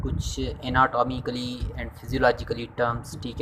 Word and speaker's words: anatomy: Terms and definition of एनाटॉमी and physiology. सबसे पहले हम स्टार्ट करते हैं व्हाट इज़ एनाटमी, ठीक है ना। ये जो प्रोनाउंसिएशन है इसको हम एनाटमी कहते हैं, ठीक है ना, एनाटॉमी नहीं, एनाटमी।